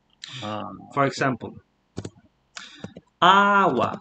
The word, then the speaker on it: agua: example, agua. So you notice this word starts with an A and the stress goes on that very syllable.